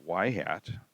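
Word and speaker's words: ŷ: plus 7.6 4 6 4 x okay we pronounce that y hat and that means it's the predicted y so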